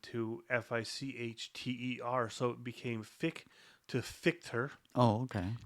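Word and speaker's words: Fich: I chose to go with Fitch because it's actually pronounced Fick, the old Austrian family name from before my great-grandfather emigrated from Austria to Canada. Mm-hmm. It was spelled F-I-C-H.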